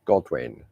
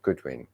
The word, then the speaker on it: Godwin: It's Godwin, not Goodwin, Godwin.